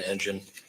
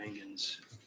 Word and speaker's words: Engen: Is it engine, like an engine, or is it Engen? I thought I heard her say Engen. It's the latter. Engen, I think.